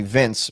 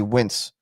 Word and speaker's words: Vince: See, Vin is and my Norwegian friends call me Vince, but they can't pronounce it that way, so they call me Wince because they can't. Well, because the V is a W is a double is a in Europe is a double V, so it's pronounced different to the way we do it.